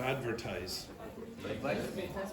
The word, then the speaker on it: advertise: This is advertise with a z sound.